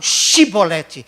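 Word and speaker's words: Shibboleth: E aí, eles descobriram que os efraimitas tinham uma dificuldade na língua para pronunciar a palavra Shibolete nas consoantes CH junta. Eles não falavam Shibolete, eles falavam Sibolete.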